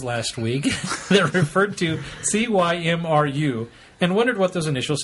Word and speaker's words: Cymru: to the fact that most words aren't pronounced as they look, and this one is no different. There is an online pronunciation dictionary where you can hear it pronounced by a native, but basically it's Cymru. Spoken with a British accent.